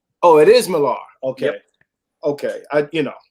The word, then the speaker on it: Millar: miller with an e actually it's uh it's pronounced malar oh it is millar okay okay i you know sometimes almost nobody